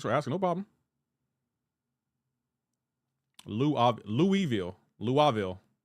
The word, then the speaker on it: Louisville: Say Louisville, please. Brother Lewis Lewisville. Am I not saying it right?